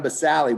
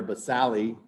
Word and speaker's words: basale: The stratum basale, which means stratum means layer, basale, not basale, don't say that. In Latin, you pronounce all the vowels.